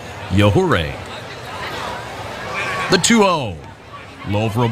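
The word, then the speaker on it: Yajure: at a quick pace his last name spelled by the way y-a-j-u-r-e pronounced yahoo ray the 2-0 love for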